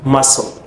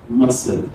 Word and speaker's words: muscle: number 10 you have muscle muscle this C again is silent yes can we take